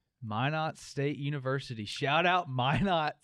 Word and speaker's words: Minot: University where I graduated what's that called uh Minot State University why not yep how do you spell that am i n o t Minot State University shout out Minot why Matt my